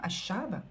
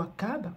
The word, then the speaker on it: Achab: La femme du roi Achab, ou Akab, comme vous pouvez le prononcer, la femme du roi Akab, introduit le culte à Baal.